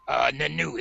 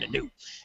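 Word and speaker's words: Nnooo: Nanu is N-N-O-O-O. I think that's how they pronounce it, Nanu.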